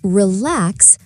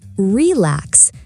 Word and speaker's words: relax: For example, say relax, not relax. The stress is on the second syllable.